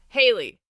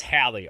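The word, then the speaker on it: Hally: it's like that but the guy in the audible says hayley and i don't think that's how it's spelled i'll i'll have to look myself because i hadn't looked at it but if it's spelled the way that you have it spelled here that's halley all day long yeah man that's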